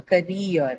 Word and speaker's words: career: So ideally, if you look at the rule, then it should have been marked on the first syllable ka. But here, instead of ka, we mark it on the second syllable rear because the second syllable rear carries a diphthong in it.